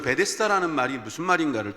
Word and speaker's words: 베데스다: 메쎄 다가 됩니다 에쎄 다 베데스다 가 됩니다 베데스다 베스 에다가 거라고도 발음할 수 있겠지만 베데스다 라고 하는 이름 저것은